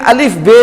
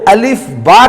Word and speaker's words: الف با: تو عربی تلفظ میں الف بے نہیں آتی، اس میں الف اور با آتا ہے.